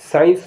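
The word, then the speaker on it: science: माने इत्र एस सी आई ई एन सीई साइंस माने विज्ञान एस सी ई एन ई सीन माने दृश्य अब देखिए जिसमें जी साइलेंट होगा उनके बारे में बताने जा रहा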